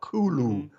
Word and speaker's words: Cthulhu: pronunciation well guide um cthulhu can't be said with the human larynx um i think lovecraft said it was whistled like kulu or something like that and i really like